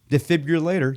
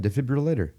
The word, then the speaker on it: defibrillator: that's what I said defibrillator still a little there's a I'm putting the accent on the wrong word no there's a little hint of a u in there the rhythm is get